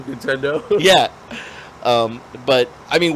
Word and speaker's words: Nintendo: See, and and here's probably why it's Nintendo because it rhymes with he don't know cuz that was that's the words before that.